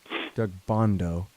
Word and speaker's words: Doug Bandow: Our friend Doug Bandow always points out, Doug Bondo is how you say it, not how you spell it.